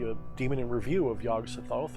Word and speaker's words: Yog-Sothoth: demon in review of yog sothoth or yogg-satot i'm just going to say yog-sothoth how about that we'll